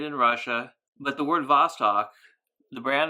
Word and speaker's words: Vostok: That's the letter V in Russian, and the S, or the letter, what looks like a letter C in English, is the letter S in Russian. So that's pronounced Vostok.